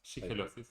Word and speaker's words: shigellosis: de la familia intoxicada por shigellosis, ¿lo estoy pronunciando bien? ¿Shigellosis? Shigellosis.